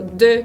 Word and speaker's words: deux: otra es la X, como en la palabra deux, por ejemplo, deux, que significa dos, con esa combinación de EU, deux, con X muda.